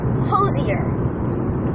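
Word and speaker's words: Hozier: He pronounces it Hosier.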